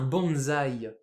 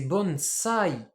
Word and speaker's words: bonsai: un pot là nous on appelle ça un bonzaï mais en japonais c'est bons bons et ouais donc ce qu'on appelle un